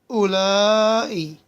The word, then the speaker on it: هؤلاء: هؤلاء. So after the first ha is elongated.